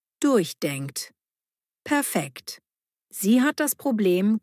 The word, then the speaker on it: durchdenken: Betonung durchdenkt.